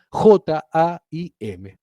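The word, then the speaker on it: חיים: vida en hebreo es Haim. ¿Sí? Se escribe con het, Haim. En castellano, la palabra vida transliterada sería J-A-I-M. ¿Sí? Eso se pronuncia Jaim.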